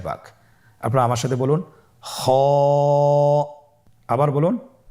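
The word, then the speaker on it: خ: খ হরফটির মাখরাজ হলো কণ্ঠনালীর শেষ ভাগ হতে উচ্চারণ করতে হয়, কণ্ঠনালীর শেষ ভাগ। আপনারা আমার সাথে বলুন খ।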